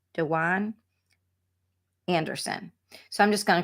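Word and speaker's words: Dejuane: say her name right it's d e j u a and e I believe and you pronounce it De Juan Dewan Anderson so I'm just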